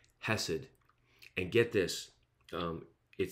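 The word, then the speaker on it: חסד: merciful kindness is great that hebrew word is hasad sorry i'm trying to say it properly hasid and get this it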